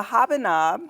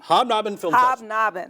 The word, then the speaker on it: Hobnob: how wonderful is that and this is the habanob hobnob okay hobnob and film we don't like to make it easy to pronounce what we want to do is trip